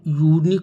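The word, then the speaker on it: unique: etcetera यूनिक अद्वितीय खास उच्चारण यू यूनिक होता है या का उच्चारण होता है एक कंसोनेंट है व्यंजन है आ यूनिक होगा यहां यू का उच्चारण वावेल उ के स्थान पर कंसोनेंट या है आ यूनिक तो आ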